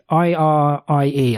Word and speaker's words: Irie: And she has a co-worker called Irie, I-R-I-E. I can never pronounce that.